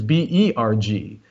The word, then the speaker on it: Berg: So you'll see that Würzburg is B-U-R-G, whereas Marienberg is B-E-R-G. In English, we tend to pronounce those the same, but in German, they are completely different words. A Burg, B-U-R-G, means a defensive medieval castle, whereas a Berg, B-E-R-G, means a mountain.